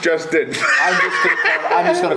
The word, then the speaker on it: Lustin: It sounds like Lustin. Lustin. Lustin, pronounced Justin.